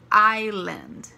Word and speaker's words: island: Campo Island muita atenção gente Island você não pronunciou essa e não pode falar islands nem Island é ailan OK Island ilha e Forest Forest é floresta